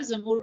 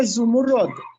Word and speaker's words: زمرد: سر زمرد تلفظ بھی بتائیے گا، زبر ہوگی، زیر ہوگی یا پیش ہوگی؟ یہ لفظ ہے زمرد.